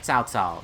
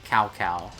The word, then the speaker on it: Cao Cao: it just be clear his name is South South not kow kow although it's hilarious every